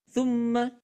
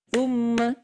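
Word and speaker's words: ثُمَّ: Tumma. Nah, itu cara baca dengan tiga ketukan lam lamban. Tum. Jangan tsumma. Nah, kalau tsumma itu hanya dua ketukan, Bunda.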